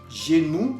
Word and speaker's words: genou: Genou, que significa rodilla, la rodilla. Al final estamos oyendo OU. OU, que quedamos que se pronunciaba U.